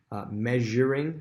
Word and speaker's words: measuring: Measuring, same thing with treasury, is that Z-H, zh sound, measuring.